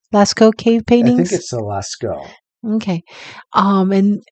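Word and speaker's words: Lascaux: the um how do you say it John Lasko Lasco cave paintings okay um and the Alaska cave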